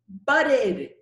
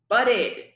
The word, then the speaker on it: budded: And in the word bud, which ends in a D, budded, budded. So whenever the root verb ends in the letter D or the letter T, you have to pronounce the ed, the id.